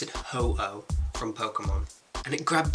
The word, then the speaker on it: Ho-Oh: Marco, you pronounce it Ho-Oh from Pokemon.